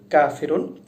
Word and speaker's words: ق: দর্শক লক্ষ্য করুন, কফ এটা উচ্চারিত হবে জিহ্বার শেষ অংশ থেকে, আর যেটা কাফ সে উচ্চারিত হবে জিহ্বার শেষ ভাগের একটু আগে থেকে। কাফ, কফ এটার উচ্চারণ হবে এরকম, আর একটা যেটা কাফ সে উচ্চারণ হবে কাফ, কাফ।